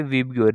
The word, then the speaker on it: VIBGYOR: तो इसको याद रखने के लिए आप एक स्पेलिंग लिख लो, विबग्योर, VIBGYOR। यही स्पेलिंग को, मतलब इसको ही मैंने स्पेलिंग मान लिया और इसको पढ़ते कैसे, विबग्योर, याद रखने के लिए।